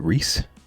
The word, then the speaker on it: Rhys: How do you pronounce Rhys? Is it Reese?